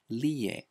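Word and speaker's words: Rie: So, for example, the word McDonald's becomes makudonaludo, and my wife's traditional Japanese name, pronounced lie, is spelled R-I-E.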